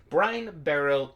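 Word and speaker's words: Brinebarrow: the format brenna barrow i am brian barrel that's how you pronounce that brian barrow intruder it is a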